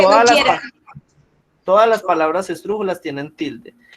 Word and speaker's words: esdrújulas: Todas las palabras esdrújulas tienen tilde. Y se dice esdrújulas porque tienen el acento en la antepenúltima sílaba.